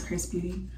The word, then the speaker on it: XRS Beauty: got this hair featuring Chris Beauty um it's XRS Beauty but the pronunciation is Chris Beauty um so yeah they